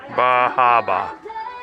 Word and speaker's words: Bar Harbor: Bahaba.